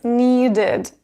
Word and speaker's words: needed: Need finishes into d sound, which is one of them, yet t or d. That is why when we add ed, we will pronounce it as needed, id, needed.